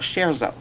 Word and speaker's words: Scherzo: And also, the name of that comedy channel is called Scherzo. And it's spelled SHARE and then ZO.